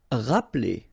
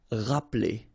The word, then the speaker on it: rappeler: Rappeler. Okay, remember this here is not really pronounced. Rappeler.